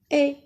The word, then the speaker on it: est: Regardez, ça, mi, est, si le son est. Samy est dans l'allée. E à la fin ne se prononce pas. Et encore S à la fin ne se prononce pas.